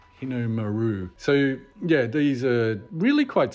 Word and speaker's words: Hinomaru: do the roundels, or the proper Japanese word is Hinu-maru. And I know I've completely butchered that, but Hinomaru. Hinomaru.